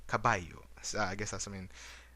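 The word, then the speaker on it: caballo: or the word for horse which is spelled as c a b a double l Hello. Uh, you would actually say kabayu.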